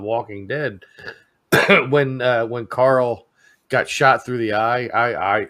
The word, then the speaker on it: Carl: He always he always pronounced it as like coral, like sea coral. You know what I mean? Like, hey Jeremy, that's not how that's not how they pronounce it down in the south, you know. Jeremy, get on here. More like Carl.